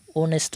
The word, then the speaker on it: honest: Likewise, an honest man, here h remains silent but the beginning sound is o.